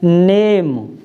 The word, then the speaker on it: name: वाले शब्द हो गए, तो इसमें ई का उच्चारण नहीं होगा। और ए का जो स्वर है, ए का, तो वो छोटी ए की मात्रा से हम उसका उच्चारण करेंगे। जैसे NAME, ई और बढ़ा दी ना, तो ई को नहीं पढ़ेंगे हम, इसको क्या पढ़ेंगे? नेम, नेम, ए की मात्रा, छोटी ए की मात्रा के साथ।